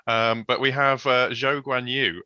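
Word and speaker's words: Zhou Guanyu: but we have uh joe guanyu um that is apparently how he prefers to have it pronounced so we will you know obviously defer to that um uh so you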